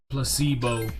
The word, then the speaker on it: placebo: repeat after me placebo stress is on the middle syllable placebo splendid it's so charming